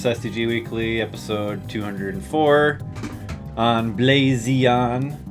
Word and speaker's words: BlaZeon: weekly episode 204 on blazon I pronounce it like that because the Z is capitalized in the logo in fact it's a